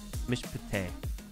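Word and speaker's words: מִשְׁפָּט: So look at Mishpate. The first Shiva is silent, Mish. It closes it out, Mishpate.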